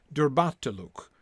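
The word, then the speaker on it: durbatulûk: are correct here that the stresses are supposed to be on the second and fourth syllable of those two words then that first u the third syllable is just it is short it's definitely short right because you don't really land on so durbat luke it's just an uh right just a little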